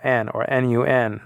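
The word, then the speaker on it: נון: The N is the same sound as the Nu in Greek, but I'm just saying the name of the letter is actually Noon or Nun.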